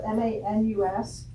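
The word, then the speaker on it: Maynes: So his last name is spelled M-A-N-U-S? M-A-N, or excuse me, M-A-Y-N-E-S. It's pronounced Manus.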